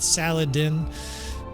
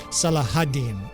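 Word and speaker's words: Salah ad-Din: the butchered in English it's like a cob salad or something like that Saladin saladine if they're being nice um I think proberly a little better translation and be gentle on me you you native arabic speaking people I think a better pronunciation of this tremendous warlord and hopefully they do something there at jamea Castle is see if I can do this right salahadin sometimes it's salahadin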